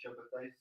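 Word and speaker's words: Shabbetai: of a Jewish scholar, Shabtai Tzvi. Is it good? Am I pronouncing it right? Yes, it's Shabbatai.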